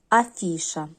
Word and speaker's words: афіша: останнє слово - це у нас афіша тут ми бачимо три склади наголос падає на другий склад і бачимо другу три